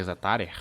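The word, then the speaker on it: Zetterer: né o tal do zatar zatar assim que pronuncia o nome dele e o City tem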